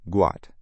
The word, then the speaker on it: Gout: His real name is Gout, pronounced Gout.